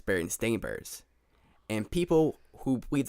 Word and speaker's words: Berenstain: So you see how it's spelled like Bearstain. Berenstain. So more like Berenstain.